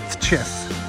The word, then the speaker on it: Tczew: I'm in a town that's spelled Tczew, and I'm informed that this is pronounced Tczew.